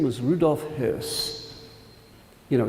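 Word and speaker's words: Höss: the commandant of Auschwitz his name was Rudolf Hurst you know it's h-o-e-s-s but with an umlao over the O It's pronounced his house like er and he's caught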